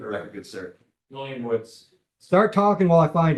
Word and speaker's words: Woods: All right, Your Honor, we're ready for, I got the name right on this one, William Woods. Did not mispronounce this one. It's not Woodis?